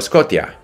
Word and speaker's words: Scotia: province in Canada right it's not that he can't pronounce sh he can pronounce this he pronounces sh very comfortably if it's sh but when it's t-i-a Scotia his his you know having it from check or whatever the those letters should be pronounced t-i-a-tia and again I I